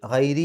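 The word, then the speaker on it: غَيْرِ: യശാ ബി ഗൈരി, ഗൈരി എന്നുള്ളിടത്ത് റാഇന് കസ്റാണ്, അവിടെ രി എന്നുള്ള ഉച്ചാരണം കൊടുക്കുക. ഹിസാബ് അവസാനത്തെ ബാ, അത് കൽക്കലത്തിൻ്റെ അക്ഷരത്തിന് സുക്കൂനുള്ള രൂപത്തിലാണ് അവിടെ നിർത്തുമ്പോൾ വരിക.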